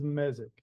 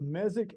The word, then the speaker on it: mesic: We refer to it as a forest as mesic if it's moist. And you will hear that pronounced both mesic and mesic. There's really no right or wrong there.